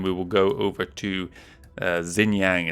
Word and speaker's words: Xinjiang: will go over to Xinjiang is how they're saying it. I thought X's were pronounced more like a sh sound, but whatever.